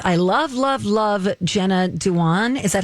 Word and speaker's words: Jenna Dewan: Nina says, I love Jenna Dewan.